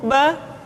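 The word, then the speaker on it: ب: Yang kedua, huruf Ba. Huruf Ba dikeluarkan dengan cara merapatkan kedua bibir kita. Ba, Bi, Bu. Ketika mati, maka terdengar suara pantulan. Bab. Kesalahan sering terjadi, seringkali Ba lupa untuk dipantulkan suaranya.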